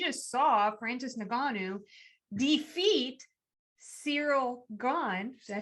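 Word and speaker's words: Ciryl Gane: We just saw Francis Ngannou defeat Cyril Gane.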